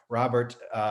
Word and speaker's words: Robert: I recommend this book by Robert Cialdini. Took me a while to learn how to pronounce his name.